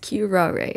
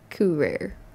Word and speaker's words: curare: curare the entire time it's pronounced queue rare and not cool rare but anyway let's keep